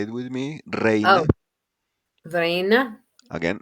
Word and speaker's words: reina: So we have combinations like AE, pronounced like the A in May. So examples: reina. Say it with me: reina. Oh, Vrena, Again, reina.